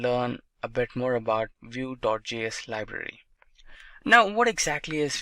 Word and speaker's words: Vue: Vue.js is commonly referred to as Vue and pronounced as Vue.js, or Vue is rightly so.